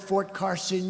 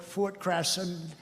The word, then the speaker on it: Fort Carson: You don't like to mispronounce a word like you come to a great place like this, and instead of calling it Fort Carson, you call it Fort Crasson.